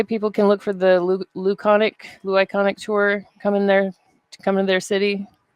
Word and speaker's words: Louconic: it's You, it's it's Luconic. Luconic. Okay, I thought I was saying it wrong at first, but Luconic is C no no Louc LOUCONIC. on the screen.